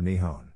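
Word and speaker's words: 日本: Japanese is written using the kanji and is pronounced Nippon or Nihon before was adopted in the early 8th Century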